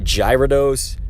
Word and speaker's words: Gyarados: the correct pronunciation but Gyarados is also it's like gyro dose Gyarados you know like you're saying it almost like guerre gaya reduce and I remember PewDiePie